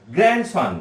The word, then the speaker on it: grandson: তাহলে যদি আমি এবার লিখি GRANDSON, তাই উচ্চারণটা কি হবে? গ্র্যান্ডসন। এখানেও কিন্তু ডি এর উচ্চারণ আসবে না।